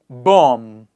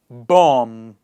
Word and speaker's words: bomb: in front of us where the B is silent I'm going to pronounce it you have to repeat after me are you ready let's get going together bomb please repeat after me bomb climb so many people